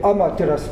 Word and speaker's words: 天照: の中心ですがこれを 10 照らすと書いてアマテラスと言いますなぁ古くは余っ